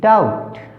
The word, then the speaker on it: doubt: DOUBT डाउट, DEBT date, यहाँ पर क्या है, बी साइलेंट है।